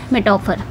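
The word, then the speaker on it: metaphor: आप इसको प्रोनाउंस ऐसे करेंगे। मेटाफर मेटाफर क्या होता है?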